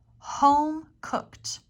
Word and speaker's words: home-cooked: same at this one home-cooked home-cooked the e d here makes a T sound home-cooked meal meal one